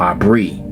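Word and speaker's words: Ivri: Now it's not pronounced Hebrew, it's Aber or Abri.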